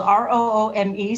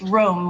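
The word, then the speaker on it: Roome: It looks like it's spelled R-O-O-M-E, so it looks like it's pronounced room, but it's Rome, like this city.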